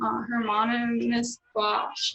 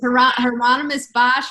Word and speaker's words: Hieronymus Bosch: Hermanus Bosch. Oh yes. Did I say it right? With Hieronymus Bosch, very good Renaissance painter earlier.